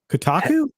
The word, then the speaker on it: Kotaku: Kotaku?